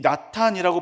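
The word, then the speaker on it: נתן: 이 나탄이라고 발음하는 히브리어 단어는 허락하다, 붙이다라는 뜻이 있습니다.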